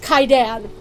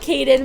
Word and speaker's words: Kaidan: And they specifically say that his name is pronounced Kaidan. So he is Kaidan. He's not Kaiden.